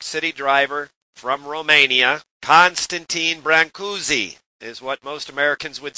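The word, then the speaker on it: Brâncuși: professional New York City driver from Romania, Constantin Brancussi, is what most Americans would say, and from Romania, Constantin Brancussi.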